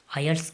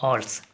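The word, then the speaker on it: IELTS: इसकी basically 2 pronunciation है, आयल्स और ऑल्स। आयल्स ब्रिटिश एक्सेंट है और ऑल्स अमेरिकन एक्सेंट है।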